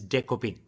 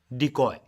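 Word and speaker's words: Dekopin: his share that his furry friend's name is decopin in Japanese and he admits it might be a bit challenging for Americans to pronounce correctly but fear not as he gracely provides an Americanized version decoy watch the full press conference to catch show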